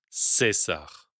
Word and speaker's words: Caesar: À cette même époque, la diphtongue AE se simplifie et se prononce E. Cela nous donne Veni, Vidi, Vici, Julius, Caesar.